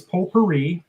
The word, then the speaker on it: potpourri: our last inning is potpourri the t is silent first questions for jd